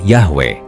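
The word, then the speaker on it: Yahweh: Beberapa ahli menyimpulkan bahwa pelafalan aslinya kemungkinan adalah Yahwe.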